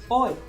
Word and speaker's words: oi: Pronounces oi. It seems weird, I know. Hey, yeah, no worries. No worries. What is it? That's cool. Oi. It's Oi? O-I. I think it's pronounced oi.